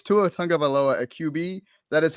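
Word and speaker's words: Tua Tagovailoa: up real quick with the tough names it's tuatanga baloa at QB that is how you pronounce his name but so many people do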